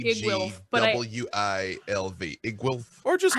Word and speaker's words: Iggwilv: In my head, I call her Igglewilf, and there's not a third syllable in there, and I know it.